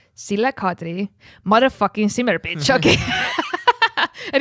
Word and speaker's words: Sille Kadri: myself, and even because Dan did not know how to pronounce my name. I don't know what the fuck he said. I was just like it was like nothing like my name, and I was like, no, it's Sille Kadri, motherfucking simmer bitch, okay.